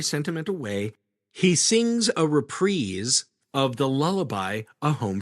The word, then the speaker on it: reprise: He sings a repreeze of the lullabi, A Home for You, which convinces Meredith to allow him to go. Wait, you pronounce that repreeze when it's in song form?